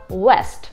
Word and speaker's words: west: И первое слово vest, а второе слово west.